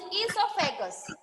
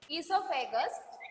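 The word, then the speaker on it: oesophagus: Second organ is esophagus. Second organ is esophagus. Esophagus, the spelling is O-E-S-O, but we pronounce E. O is silent.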